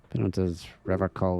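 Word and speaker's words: Revachol: I've been tempted on occasion, but someone has to stay strong for reallocall with a hard K. Unlike other people, this man is so innocent. No one is. He said revocall.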